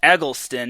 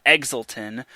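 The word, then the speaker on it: Eggleston: her name incorrectly the previous time it's actually pronounced eglon not Exelon Logan egelston had 20 kills only three hitting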